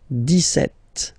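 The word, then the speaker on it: dix-sept: so it's clear but then for the pronunciation deset okay so you don't insist on the deset deset deset okay then so you will make this little link between the two the okay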